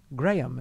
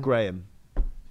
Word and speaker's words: Graham: Graham is how it's pronounced. He'll say it better than I can. Graham. Have I been saying it wrong all these years? Yeah, so have I. Don't worry about it. Okay, you got. Yeah. Sorry. I thought it was a soft H.